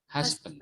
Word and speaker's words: husband: Sebetulnya D-nya itu juga dibunyikan, bukan husband gini tapi husband.